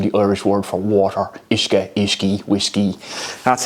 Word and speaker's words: uisce: Comes from the Irish word for water, uisce. So, it's spelled u i s c e. Some people were pronouncing it uisge, so you can see how it became whiskey.